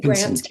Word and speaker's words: Pinsent: Pinsent, yeah, Gordon Pinsent.